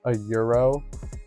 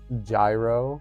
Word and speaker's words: gyro: It's like the same thing too, like how he's pronounced a euro, at least as far as I've ever pronounced it, like a euro sandwich. Obviously Greek food, euro, lamb. He pronounces it gyro, and I'm just like, I don't know, that doesn't feel right. I think it's pronounced euro.